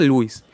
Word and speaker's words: Lewis: Se pronuncia Luis. No digan el ángulo de Luis Aloñeri.